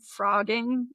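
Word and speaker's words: phrogging: No, it's called Frogging and it's spelled P H R O G G I N G. Like it's Yeah, cuz that's how you spell frogging. I know. What the hell? I don't know. How did you spell that? Ph. Like fat with a ph.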